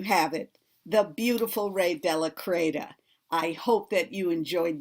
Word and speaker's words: de la Cretaz: And my last name is Della Creta, small letter D-E, space, small letter L-A, space, capital C-R-E-T-A-Z, as in zebra, and it rhymes with see you later.